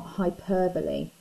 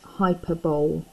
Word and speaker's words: hyperbole: I mentioned when I said groundbreaking device about hyperbole, spelt like this, and often wrongly pronounced hyperbole.